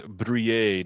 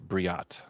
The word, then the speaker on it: Brouillet: Aaron want us to know that it is Brouillet, not Briat.